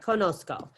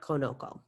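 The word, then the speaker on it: conozco: with victoria um perfect do you pronounce it just right conosco it just has an extra z in there so it's not conoco all right so here's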